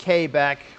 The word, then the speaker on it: Quebec: Might be able to get away with the smaller one in Quebec. Oh, nice. Yes, I know it's also pronounced Quebec, but, you know, I'm American. I pronounce things weird.